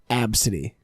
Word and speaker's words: ABCDE: think I've seen it it's pronounced AB City yeah absently that's right [